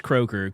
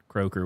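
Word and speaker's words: Croker: name was Crocker uh does it say CER I I think it's kroer cuz it sounds like an English name c r o k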